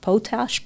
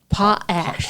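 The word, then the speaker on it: potash: talk about the Antioch potach plant. Potach, is that how you say it? Potach plants that were up in Antioch, which is north and a little east of of Alliance. Um, pot ash.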